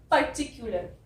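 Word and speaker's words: particular: पर्टिकुलर, यहाँ पे PAR है इसलिए ये पर है। जब PR होता है तो मैंने आपको बताया था उसको प्र बोले, है ना, जैसे प्रे में, पर यहाँ पे पर है, टिक्युलर है, पर टिक, क्यू, CU को ऐसे बोलना है आपको, क्यू, CU को आपको बोलना है आधा का य और उ, क्यू, पर्टिक्यू। लर को आपको ल और आर बोलना है।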